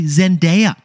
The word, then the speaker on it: Zendaya: The second most mispronounced word was the actress Zendaya. It's actually Zendaya. It's mispronounced. It should be Zendaya.